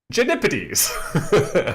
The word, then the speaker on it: Genipides: I love Miss Charlotte telling us the right way to pronounce it is Genipides.